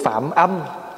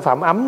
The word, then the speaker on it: Phạm âm: về sau được tướng Phạm âm phạm âm chứ không phải phạm ấm nha thí dụ chữ